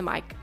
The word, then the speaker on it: mic: It's not a meek, it's a mic.